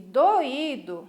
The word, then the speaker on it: doído: temos três sílabas tá percebam que na palavra doido eu tive duas vogais juntas na mesma sílaba a vogal o EA vogal ir porém na palavra do ido eu tenho as duas vogais em sílabas diferentes ficou ue numa sílaba separada né porque porque já devem ter percebido que a sílaba tônica está em lugar diferente a sílaba forte e o significado também